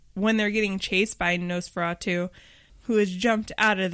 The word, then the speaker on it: Nosferatu: You mentioned how when they show, how do you pronounce the name of the movie? Nosferatu.